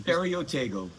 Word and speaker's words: Ferio Tego: Please pronounce the name of this cigar company. Ferotego.